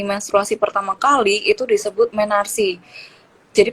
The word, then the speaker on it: menarche: Jadi ketika perempuan mengalami menstruasi pertama kali itu disebut menarsi. Jadi pengejaannya itu MENARCHE.